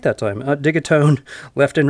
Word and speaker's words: Digitone: did it I said it right that time dig atone left and right as the audio source okay